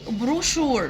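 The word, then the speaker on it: brochure: بروشور بروشور بروشور بروشور الـ سي إتش هنا بننطقهم شا زي الإس إتش كده ما ينفعش أنطقهم تش يبقى فيه كده إيه إيه بعض الكلمات بننطق فيهم الإس إتش زي الإس إتش بالظبط بروشور بروشور بروشور بروشور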